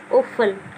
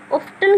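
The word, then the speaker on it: often: देखिए जब भी टी ई एन शब्द के अंत में हो तो टी साइलेंट रहेगा, क्या रहेगा, टी साइलेंट रहेगा। जैसे ओफन, अब ऑफ्टन क्यों नहीं पढ़ा हमें, टी क्यों नहीं पढ़ा, वैसे तो ऑफ्टन होना चाहिए था, लेकिन हम बोल रहे हैं ओफन, तो क्यों बोल रहे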